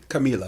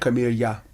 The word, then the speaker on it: Kamila: And just so you know, too, my name is pronounced Kamila. Kamila. Yes. Yeah. Not Camilla. No. Not Camellia. Not Camilla. Not Camilla. Not Kamala.